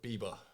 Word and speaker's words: Beeba: Oh, not like Justin Bieber. I knew that was coming. I finally get a chance to explain to the world, pronunciation, because I'm pretty sure he spells his name B-I-E, which is by, in my understanding of the word.